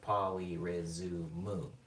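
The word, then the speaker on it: ポリリズム: It has 5 syllables. At polyrhyzumu, there's 5 syllables.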